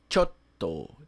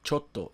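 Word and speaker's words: ちょっと: A pronúncia não é chotto, é chotto. Entre o cho e o to, a gente tem aqui, né, o que a gente chama de tsu pequeno, que na escrita em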